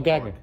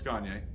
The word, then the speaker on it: Gagne: Oh, Gagne. No, it's Gagne. Oh, Gagne, okay. That's why I asked. All right. Cool. If you can't pronounce it that way, think of Kanye, but Gagne.